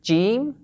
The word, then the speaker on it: ج: Remember that the name and the sound of this letter, the letter Jeem, are a bit different. So the name is the letter Jeem, Jeem, stretch the sound, Jeem, and the sound that we focus on is the sound Ja, Ja.